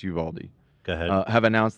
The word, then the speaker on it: Uvalde: funeral homes in uvald Uvalde I hope I I keep questioning myself that I'm saying it correctly I think it's Uvaldi go ahead uh have